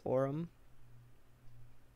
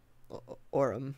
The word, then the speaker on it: Orem: how do you pronounce Orem Orem they tell people it's the word or and then the word um Orem you just say it real fast Orem like forum exactly or um's forum